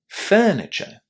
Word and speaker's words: furniture: So how do you pronounce the letters you are in this first syllable? Listen and check. Furniture.